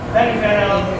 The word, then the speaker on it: peripheral: peripheral nervous system. How to pronounce? How to say PH? PH you pronounce as F. PH say as F.